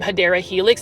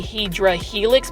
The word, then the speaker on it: Hedera helix: not really scaring you the way I pronounce um um hadera Helix that's actually the correct way this is the Jubilee English ivy um I just remember when I first started doing plant shopping videos about four and a half five months ago I was actually mispronouncing it I thought it was actually hedra Helix but it was actually hadera Helix um but for some